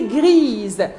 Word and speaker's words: grise: féminin des gris c'est grise et là je dois prononcer le S Z tout simplement parce que